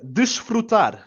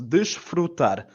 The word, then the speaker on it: desfrutar: Desfrutar. So we start off with the standard D sound in Portuguese, a soft E, and the j, the sort of weird S that people seem to struggle with Portuguese as well.